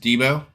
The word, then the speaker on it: DBO: DBO, it's actually pronounced Debo.